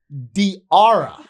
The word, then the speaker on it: Diarra: And and went diara. Yes. Rhymes with tiara.